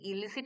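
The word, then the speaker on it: illicit: মাথায় ক্লিক করে যে এর একটা হোমোনিমাস একটা ওয়ার্ড আছে হোমোনিমাস মানে কি উচ্চারণগতভাবে এক কিন্তু অর্থগতভাবে আলাদা। এই ইলিসিট মানে কন্ট্রাব্যান্ড। মানে দ্যাট ইজ ইললিগাল। আর এর হোমোনিমাস ওয়ার্ডটা হচ্ছে ইলিসিট। ই এল আই সি আইটি ইলিসিট।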